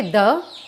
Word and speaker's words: the: आप में से कुछ कहेंगे द, ये जो लिखा हुआ है वो है द, और कुछ कहेंगे ये है दी। तो इसका करेक्ट आंसर दोनों है। इसे हम दा भी कह सकते हैं, इसे हम